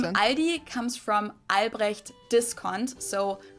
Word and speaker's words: Aldi: Or they also sometimes add an S that isn't there in the end and say Aldis.